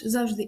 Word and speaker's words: завжди: словах як Простий чи простий також і також завжди і завжди зараз у нас ці слова дублетним наголосом тобто з подвійним Угу але історія мови